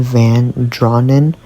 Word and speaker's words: Van Draanen: Okay, Angel here editing, but um the author's last name pronounced is Wendelyn Van Drawn.